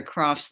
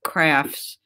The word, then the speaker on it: Crafts: today to deliver the croft's lecture which i would have pronounced crafts in uh my bronx accent but of course it is a croft's lecture nick croft's work on